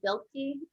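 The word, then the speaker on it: Biklé: There's a really great book called The Hidden Half of Nature by David Montgomery and Ann Bilke, I think is how you say her last name.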